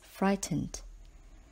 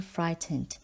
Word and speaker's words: frightened: example spongebob was feeling frightened when he heard a strange noise inside his bedroom don't forget the silent G H in the word frightened word number 26 is